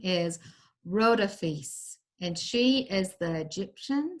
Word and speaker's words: Rhodopis: from Egypt okay so notice the way to pronounce her name is rota fiefs and she is the Egyptian Cinderella this is